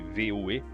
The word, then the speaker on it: Vue: mesmo exemplo em Vue, que se escreve na verdade VUE, mas se lê Vue, e no próximo vídeo eu vou falar sobre ele.